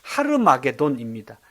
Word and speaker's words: 하르마게돈: 근데 실제 아마게돈의 정확한 히브리어 발음은 하르마게돈입니다. 그걸 히브리어로 적어 놓은 거를 원래 히브리어 발음으로 읽으면 하르마게돈이라는 의미입니다.